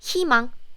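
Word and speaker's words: 희망: sound it's silent silence there is a consonant sound so I don't need to pronounce this u sound it's just himang as you can see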